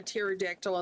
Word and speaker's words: pterodactyl: My My kind is more like the pepper water or um Why can't you hear a pterodactyl in the bathroom? It's because the P is silent.